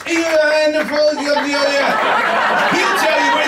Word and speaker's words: Ioan Fazey: It's Ioan Fazey. He'll tell you what it's called. Thank you very much. Good evening, ladies and gentlemen. Good evening. Thank you. My name is Ioan Fazey, as he obviously couldn't pronounce, and I'm from the University of Dundee.